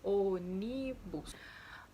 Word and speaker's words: ônibus: s porém contudo entretanto ela é uma palavra proparoxítona ou seja a antepenúltima sílaba é forte olha aí ônibus aonde é a sílaba